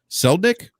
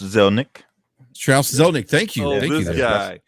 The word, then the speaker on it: Zelnick: gonna butcher's last name celdnick i think that's how you pronounce it strauss zelnick schroeder no he has